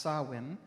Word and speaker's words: Samhain: In modern times, Samhain, a Gaelic word pronounced Samhain, is usually celebrated from October 31st to November